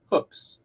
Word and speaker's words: Hoopes: but but we but my family's always pronounced the last name is hooks uh with a double O though I apologize I